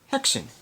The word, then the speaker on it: Häxan: In today's Silent Film Files, I'm going to tell you the story of Häxan.